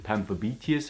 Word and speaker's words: Pamphobeteus: So the tarantula we are going to talk about is Pamphobeteus ornatus. That's the name. You most likely will pronounce it Pamphobeteus or something. That's totally fine. It goes with the English pronunciation very well, Pamphobeteus ornatus.